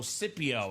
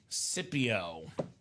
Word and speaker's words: Scipio: Sip like sipping coffee, so Scipio, Alex. There you go. Scipio.